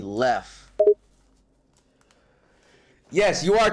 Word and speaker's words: RichLev: It's Lev, not, bro. You were pronouncing it when it's supposed to be Lef.